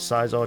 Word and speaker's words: Scizor: a Caesar Cesar caar I'll go with caar just because I'm British and I think that's how you pronounce it in British anyway let's see how